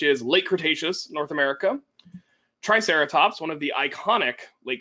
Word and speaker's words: Triceratops: Late Cretaceous North America Triceratops one of the iconic Late Cretaceous North American dinosaurs Tyrannosaurus which I've heard miss I've heard triceratops mispronounced as try super ops and I've heard tario